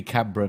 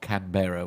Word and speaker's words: Canberra: Because it should be Canberra. Yeah, absolutely. Yeah, this is it. Should be Canberra, not Canberra, which I keep doing.